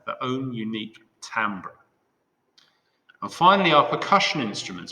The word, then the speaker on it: timbre: now the word timbre imagine that i is an a that's how we pronounce it timbre it is the unique